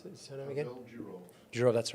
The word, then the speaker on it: Durov: So on this day, Pavel, how do you pronounce his surname again? Pavel Durov.